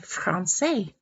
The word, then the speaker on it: français: And a cedilla is a little mark under the C, and it means to pronounce that C like an S. So that's called a soft C, such as in the word français. Français.